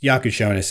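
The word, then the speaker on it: Jakučionis: His Yakushonis is his how you pronounce it.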